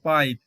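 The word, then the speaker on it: pipe: sound দিয়ে উচ্চারিত হবে উদাহরণ হিসেবে দেখো পাইপ এখানে কিন্তু ই সাইলেন্ট রয়েছে কিন্তু এর আগে যে ভাওয়েলটি রয়েছে সেই ভাওয়েলটির লং সাউন্ড বা নিজস্ব সাউন্ড দিয়ে উচ্চারিত হচ্ছে বলে এখানে এটি হচ্ছে পাইপ এবারে ধরো কোন কারণে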